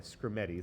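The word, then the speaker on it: Skrmetti: It's a very hard name to pronounce. S kr me tt tti scremeti is actually a person's name.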